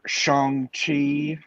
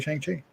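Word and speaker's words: Shang-Chi: see the trailer for shanghai that's how you pronounce it i learned that today i have been i've been saying chiang chi until someone of asian descent corrects me i'm going to say shang chi well i will continue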